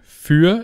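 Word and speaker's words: für: so you can say the preposition Fe is phonetically quite similar to the number fear and that's why we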